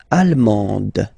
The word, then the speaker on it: allemande: L'Allemagne, allemand, allemande, okay, same thing here. En, okay, you don't pronounce the final D, but then you pronounce it here for the feminine form.